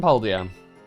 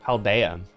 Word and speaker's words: Paldea: It is Mesagoza, the biggest city in Paldea. Or Paldea. I think that's how they officially pronounce it.